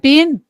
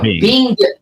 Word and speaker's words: Bing: You said Ben Crosby or No, Bing. Bing, like a Bing cherry.